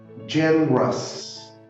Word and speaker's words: generous: Então fica delicious, generous. Algo interessante, generous tem duas sílabas.